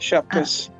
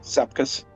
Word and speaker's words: Sepkus: Yeah, Lithuanians pronounce Sepkus with a SH sound, but Uh, Sepkus. But everyone in America calls it Sepkus.